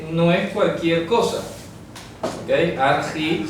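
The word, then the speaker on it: ἀρχή: Argi, se pronuncia así como argi.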